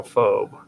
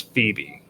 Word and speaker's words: Phoebe: Now, this one I always call phobe and I know that it's wrong, but it's Phoebe.